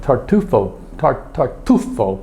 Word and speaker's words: tartufo: My mission at Mercato Centrale was to bring some tartufo products back. You got to put the accent on the right syllable, or else people will look at you and say, "What are you talking about?"